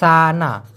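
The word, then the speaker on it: sana: Situ অথবা সানা এস এ এন উচ্চারণটা সানা।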